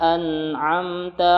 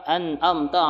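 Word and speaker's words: أنعمت: Nah, perhatikan pada kata an'amta. Biasanya nih sering terjadi banyak kesalahan di sini. Nah, ketika dia membaca dengan cepat, maka tidak peduli lagi dengan tajwid biasanya itu. Contohnya yang salah, an'amta, an'am. Jadi dia ainnya dia terbaca hamzah.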